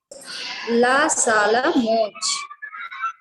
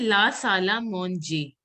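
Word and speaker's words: salle à manger: La Sala is correct. And it should be Monje. Monje. Okay, La Sala Monje. ER is pronounced as A. So it will be Monje. Just a second. Can you pronounce it again, Bhuvneshwari? La Sala Monge. Monje. It has to be pronounced as Monje.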